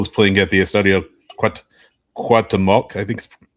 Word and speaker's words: Cuauhtémoc: By the way, just real quick, Cruz Azul is playing at the Estadio Cuauhtémoc. I think it's pronounced, but they're playing at Puebla. Cuauhtémoc.